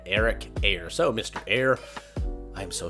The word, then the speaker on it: Eyre: refilm this episode because I accidentally mispronounced his name as Eric Iyer and I listened to an interview and his name is Eric air so Mr air I'm